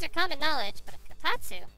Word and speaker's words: kotatsu: You have a kotatsu?